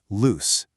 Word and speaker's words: loose: Just say it out loud with me, loose. Hear that soft S sound at the end? S, s, kind of like a snake.